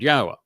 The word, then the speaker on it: Yahweh: I go through this with you and use these four words because they prove emphatically that the proper pronunciation of Yahweh's name is as I have pronounced it, Yahweh.